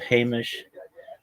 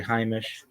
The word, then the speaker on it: Heimish: Those of the Litvak camp use the first pronunciation of Hamish, while the Polish Jews and their Hungarian cousins will say Heimish.